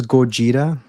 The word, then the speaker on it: Gojira: His original name is Gojira. That's true. That's how you pronounce it. Since Japan technically doesn't have a D sound, it doesn't have an L sound. So Gojira would be how you pronounce it. Yep. Doesn't exist in their alphabet.